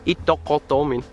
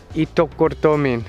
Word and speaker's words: Ittoqqortoormiit: Ittoqqortoormiit. Ittoqqortoormiit. It's just like, you could also pronounce English words quickly, like eat, cut, duck, door, meat.